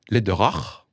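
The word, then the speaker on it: Läderach: le chocolatier de luxe Lederach, si je prononce à l'allemande, dont le patron est impliqué dans des organisations pro-vie.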